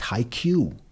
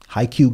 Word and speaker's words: Haikyuu!!: So, Jared, first of all, as you mentioned, the show is pronounced Haikyuu. Yeah. Simple. Haikyuu going forward.